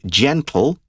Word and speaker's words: gentle: look at that word gentle g-e-n-t-l-e gentle it's not g it's not a hard g it's a soft g gentle and it's an